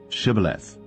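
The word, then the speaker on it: Shibboleth: Then said they unto him, Say now, Chibth. And he said, Cibth, for he could not frame to pronounce it right.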